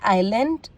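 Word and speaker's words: island: जब S friend L से पहले आता है तो जनरली एस साइलेंट रहता है। फॉर एग्जाम्पल आइलैंड, आइले, एले।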